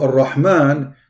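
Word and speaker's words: الرحمن: Why we extend the pronunciation? Why? Because there is two letter here. So Ar-Rahman, the letter Ra, it is two R, not one.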